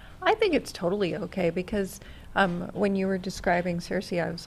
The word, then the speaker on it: Circe: So CIRCE is, ironically, it's CIRCE that, you know, if you watched Game of Thrones, it's the same type of pronunciation, but a different spelling.